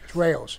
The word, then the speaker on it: Rao's: Sammy, did you have a personal table at, I can never pronounce this, is it Rao's or Rao's? Rao's.